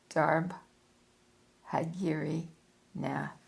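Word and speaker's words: Darbhagiri Nath: Krishna Machara but at that period of which I am writing he was commonly known as Babai or Baji Darb Hagiri Nath. I'm going to spell that for you.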